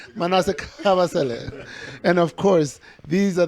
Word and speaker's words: Kabasele: Manassé Kabasele.